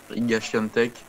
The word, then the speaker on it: Świątek: D'ailleurs, on dit Ziatek depuis là, mais c'est chiant de tech apparemment. Enfin, il y a oui, j'ai vu qu'apparemment il y avait une bah, prononciation voilà. spéciale, mais Prononciation polonaise, c'est Iga ouais. Świątek.